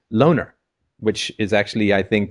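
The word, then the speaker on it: Loughner: is Jared Lee now I've heard a bunch of pronunciations lner louner it's l o u g h n r which is interesting because if you spell it like do with the o u g silent actually becomes loner which is actually I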